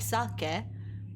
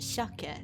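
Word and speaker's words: 鮭: It is written like sake, but it is pronounced shake, which I'm like, huh, I wonder why.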